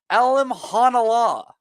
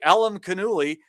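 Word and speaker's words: Alimkhanuly: And it turns out his name is pronounced Alim Hanala, okay? So all that effort that we put in trying to say Alim Kanuli, you did.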